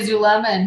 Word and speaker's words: Zulema: zulema is it zulemazolima i've heard it pronounced both ways so yeah i heard i actually i say zuleman he says you know